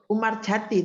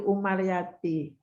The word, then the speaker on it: Umaryati: Jadi kalau kamu mengemukakan atau menyebutkan dengan Umar Jati itu lo salah. Paham? Oke, Bu. Nah, Jadi itu Umaryati. Bun S. Umaryati sebenarnya lengkapnya kalau tidak salah. Karena kamu itu orang yang katakanlah milenial, tidak mengenal tentang ejaan lama, padahal Umaryati itu bukunya memang lumayan bagus, tapi buku itu buku lama, ejaannya kamu tidak kenal sehingga bacanya salah menurut saya gitu.